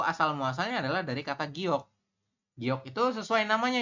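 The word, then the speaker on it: 기역: apa GK berarti G giok giok Ya seperti ini jadi kepanjangannya adalah giok teman-teman kalau dalam bahasa ininya dibacanya giok seperti ini Oke giok Nah gini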